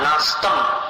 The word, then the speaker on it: नास्तं: नास्तं म मत बोलो, तंक आतंक वैसा उच्चारण।